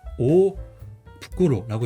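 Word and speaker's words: 大袋: 그래서 오 부끄로라고 읽어요. 그래서 원래는 발음은 후꾸로인데 여기서는 타그마가 돼 가지고 부끄러가 된 거예요.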